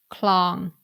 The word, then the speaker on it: คลอง: In these three examples, you can hear that I pronounce ปรับ in the low tone, คลอง in the middle tone, and ขวา in the rising tone.